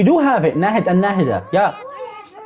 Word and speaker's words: Nahida: I was pronouncing it in English, so that's why I did not recognize it. But when I pronounced it properly, I was like, we do have that name. So Nahida. It's not Nahida. It's Nahida. Nahida. It's an Arabic name.